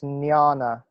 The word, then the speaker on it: jnana: don't know I see I think it's pronounced jnana like that yeah that j JN is kind of like a it's almost like an ing sound it's like Nia Jana